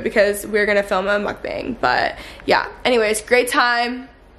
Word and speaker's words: mukbang: It's mukbang.